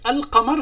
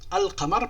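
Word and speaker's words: القمر: Donc le qa, quand il rencontre al, la lettre L se prononce. Al-qamar parce qu'il a rencontré le qa.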